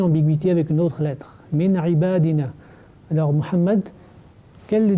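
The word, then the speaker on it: من عبادنا: Effectivement, après le nun sakin, nous avons la lettre ain. Et ain, est-ce qu'elle fait partie de cette famille huruf al-idhar? Oui. Effectivement, elle fait partie. Et donc, on va dire min ibadina. On ne va pas ni prolonger ni appliquer le runna.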